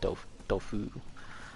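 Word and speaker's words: Dofus: I always called it Doofus, but I think it's pronounced Dofu.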